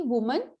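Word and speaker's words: women: ठीक वैसे ही वुमन, वो मन, वो विमेन, वी मेन।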